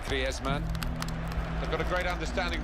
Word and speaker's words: Griezmann: before the World Cup how to pronounce his name properly. He's very much his Spanish background. So he talks to his dog in Spanish and dreams in Spanish, so I think we can pronounce his name the Spanish way, Griezmann.